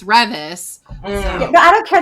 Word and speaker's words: Revis: Because I was saying Beth's name wrong, too, because I said Revis, but it's Revis.